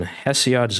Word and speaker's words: Hesiod: So chapter one, Hesiod's Lament.